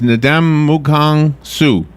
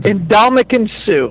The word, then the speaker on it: Ndamukong Suh: Okay, the number 2 is Ndamukong Suh. Ndamukong Suh. Do you know him? Indomitian Sue.